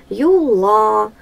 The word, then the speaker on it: юла: Юла. Ударение на второй слог.